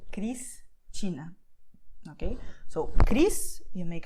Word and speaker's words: Cristina: Also, S will have the sound of S before a consonant at the end of the syllable. So, Cristina.